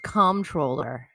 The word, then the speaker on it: Comptroller: I believe it's pronounced comptroller. Comptroller. It's like there's that P in there.